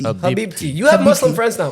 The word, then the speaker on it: Habibti: Habibi or Habibti? Habibti.